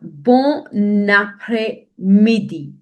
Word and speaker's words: bon après-midi: Now, bon après-midi. Bon après-midi. So I've written it in the form how you exactly have to pronounce it so that it is easier for you when you practice yourself.